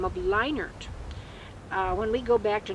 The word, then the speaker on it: Lienert: When we lived in Nebraska, we were all known as Lienert. Lienert, not Lienert or Lienert.